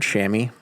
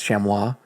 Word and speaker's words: chamois: page then uh the the highly contested pronunciation of the word shammy Cham voice chamois depending on what part of the country or world you're from but I mean there's